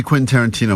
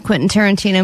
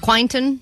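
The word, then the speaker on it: Quentin Tarantino: She's been saying quasa quint quainton quinton.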